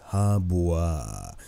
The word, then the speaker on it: He Bo: take a look at hebo or Haba how he's actually pronounced Haba uh the Chinese Mage